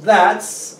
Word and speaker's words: that's: Amazing Entonces cuando decimos That's acordémonos de pronunciar la s es importante que pronunciemos la s en también con cu